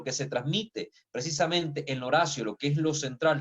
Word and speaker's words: oratio: La designación de la Eucaristía como Oratio, estamos hablando en latín, se escribe oratio, ¿verdad? Se pronuncia Horacio, ¿no?